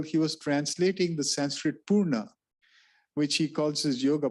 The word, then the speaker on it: Purna: And when he used the word integral, he was translating the Sanskrit Purna, which he calls his yoga, Purna Yoga. He uses the term Purna, and then Haridas Chaudhary begins his book Integral